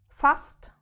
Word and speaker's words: fast: If we have st at the end of a word, this becomes st like in English. For example, the word fast which means almost. There we have it at the end of the word and the sound changes. Okay.